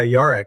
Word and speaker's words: yarak: Yeah yeah, Yarak.